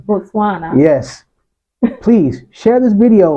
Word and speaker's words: Botswana: And to our brand new Botswana, I said it wrong again. Let me Botswana. Botswana.